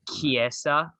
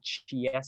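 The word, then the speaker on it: Chiesa: i gotta do yeah you have kiesa it's not chief yeah yeah which is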